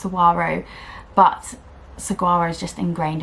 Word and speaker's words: Saguaro: just love them in the summer is the cigari set by Friday pattern company and I realize I pronounce it wrong it's pronounced Saguaro but Saguaro is just ingrained in my brain